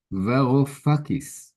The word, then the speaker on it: Varoufakis: Joseph Varoufakis, this is how you say it. Say that again? Varoufakis.